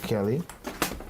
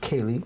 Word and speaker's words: Kaylee: Congratulations goes out to Kelly. It's pronounced Kaylee, sorry.